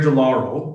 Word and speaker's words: de Lauro: So today I have Gerry de Lauro.